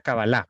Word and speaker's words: Kabbalah: poco qué es la Kabbalah, porque esto es una palabra en hebreo, que las palabras en hebreo en general son agudas, por lo tanto le puse el acento en la A, aunque tiene otro tipo de grafemas y de fonemas.